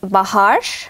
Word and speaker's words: Bahar: Also es ist richtig türkisch ausgesprochen, wäre es Baharsh.